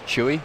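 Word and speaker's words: Chui: cedia first of all do me a favor pronounce the name of your company it's chewy chewy okay c-h-u-i um the thing that's interesting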